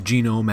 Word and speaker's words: Genom: It is Genome as in Genom without the final E.